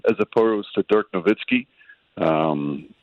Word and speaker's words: Nowitzki: not but you know sometimes it gets caught up in the the American way to pronounce it and there's still some people that say Dirk Nowitzki as opposed to Dirk novitzki um it's also confusion